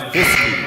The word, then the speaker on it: Fisky: And sorry, it's Fisky, actually, is how you pronounce her last name. I've been saying it wrong.